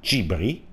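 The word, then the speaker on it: Gibrì: Ne è uscito questo personaggio, ispirato alla mia amica Gibri, con l'accento sulla I, ovvero Giulia, che ha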